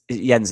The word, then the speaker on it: Jenz: Jenz, it's pronounced Jenz, isn't it?